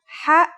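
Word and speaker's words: ح: It sounds like the sound you make when trying to cool your mouth and throat after eating something very spicy. The closest English counterpart to the sound is H. The only difference is that it comes from a point deeper down in your throat, just like this.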